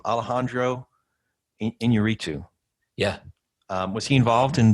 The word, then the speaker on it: Inarritu: Alejandro Inarritu.